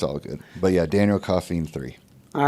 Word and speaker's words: Daniel Coffeen: It's pronounced Koffee-n.